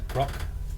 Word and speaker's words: Grokk: Oh, my character is Grokk. It's with 2 K's at the end, and the first K is silent, obviously.